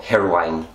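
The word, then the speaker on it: Hirwaun: I was born in Rigos, but then I pretty much grew up in a village called Irwin, or Hirwine, if you want to say it properly, Hirwine.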